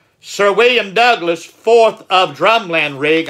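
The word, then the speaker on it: Drumlanrig: William Douglas fourth of drumland rig I may have been pronouncing that wrong earlier but I believe it's drum land rig was born about 1438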